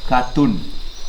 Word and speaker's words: katun: This syllable we read ka, this we read tun, katun.